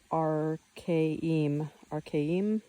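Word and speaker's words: Arkaim: Arcame, pronounced Archaim, located in the Chelyabinsk Oblast of Russia, near the border of Kazakhstan.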